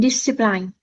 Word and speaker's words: discipline: and discipline. Yes, but we need to pronounce it this way. Discipline. So, it's a soft I each time.